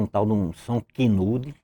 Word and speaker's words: Kenwood: E Vicente comprou um tal de um som Kinude. É Kinude a pronúncia? Tem um K, um N, não sei quantos O's e vai em frente. Muito bonito. Kenwood.